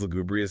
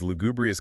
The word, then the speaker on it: lugubrious: oh that's clever because lugubrious kind of rhymes with blue right and blue is